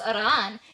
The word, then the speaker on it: Iran: are informing you that it's pronounced irran and you should have already learned that from your Iranian wife.